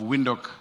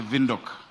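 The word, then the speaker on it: Windhoek: very good friend Queen the mayor of Wok Namibia they say they say vok uh we need to learn how to pronounce it um your Excellency thank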